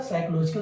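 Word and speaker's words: psychological: दूसरा साइकोलॉजिकल barrier, PSY, PSHY जो भी है, PSHY जो भी साइकोलॉजिकल बोलते हैं, PSY क्योंकि PSHY अलग अलग, P साइलेंट होता है।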